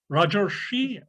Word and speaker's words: Rajarshi: Yes, Rajarshi, I'm mispronouncing your name, sorry. No, that's a perfect pronunciation.